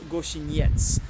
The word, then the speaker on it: Gościniec: this place behind me rovar Goshen yetz which I have pronounced right this time thankfully but uh yeah